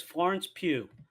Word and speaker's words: Florence Pugh: And I just messaged you guys, Florence Pugh. That's how you Yeah.